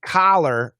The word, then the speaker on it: collar: that does that so color color is a short u and collar oops uh collar i can't spell at all uh is a short o so uh cop and